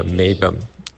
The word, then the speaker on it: meibum: Now, fat-soluble toxins in the eyes come out through your eye wax, through the meibum. That's spelled M-E-I-B-U-M.